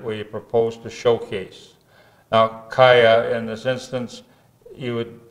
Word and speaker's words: Chayah: propose to showcase now kaya in this instance you would pronounce or you'd expect to pronounce chai the ch makes a k it's an ancient word